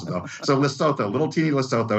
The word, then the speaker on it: Lesotho: from free trade for steel in landlocked uh lesotho in south that you know it's that's the